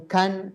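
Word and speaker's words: kan: El de poder en inglés es can. Sería con can, que es número 4.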